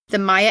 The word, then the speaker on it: Maya: And I have for years been pronouncing it Mayan, like the Mayan people, but every reference I saw to it said Maya.